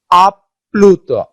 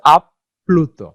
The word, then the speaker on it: আপ্লুত: যেমন আপ্লুত, দুইটা কিন্তু প উচ্চারিত হচ্ছে, আপ্লুত।